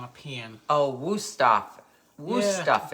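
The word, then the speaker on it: Wüsthof: Wusthof is how you say it.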